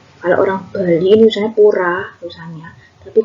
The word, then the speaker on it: pura: Kalau orang Bali ini misalnya pura tulisannya, tapi kalau orang Bali bacanya puro ya.